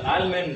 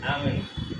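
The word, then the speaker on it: almond: okay okay nuts அதுல ஆல்மண்ட் அப்படின்ற nuts இருக்கு எல்லாருக்குமே ரொம்ப பிடிக்கும் ஆல்மண்ட் கிடையாது ஆக்சுவலி தி ப்ரொனௌன்சியேஷன் இஸ் ஆல்மன் இங்க எல் வந்து சைலெண்ட் ஆல்மன் ஒன்ஸ் அகைன் ஐ கேன்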